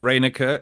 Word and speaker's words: Reyneke: rer everyone just calls me um it's rer Americans cannot pronounce my surname which is hilarious in fact